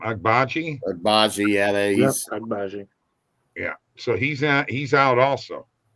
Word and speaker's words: Agbaji: Agbaji, yeah, he's Agbaji.